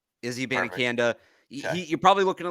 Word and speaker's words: Abanikanda: Israel, it's exactly how it's spelled. Abanikanda. Izzy Abanikanda.